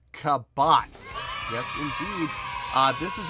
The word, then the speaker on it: Kabát: hope pronounced this right i believe the band is pronounced kabot yes indeed uh this